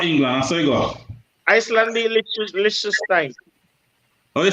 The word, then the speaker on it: Liechtenstein: Lich, not lick. Liechtenstein.